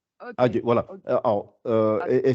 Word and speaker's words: ج: Alors, il faut bien rebondir, ça fait Adje, Adje, Adj. Ok. Adje, voilà. Ok. Alors, Adj. et c'est plus proche du D et du J que du J tout seul.